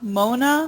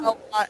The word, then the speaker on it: Moana: How do I pronounce Moana? Mona? Moana.